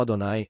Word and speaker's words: Adonai: E a palavra é Jeová. Eles a pronunciam como Adonai. Adonai é o que usamos em vez de dizer Jeová.